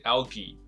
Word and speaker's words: algae: 它的发音是 algae，就是藻类的复数 algae，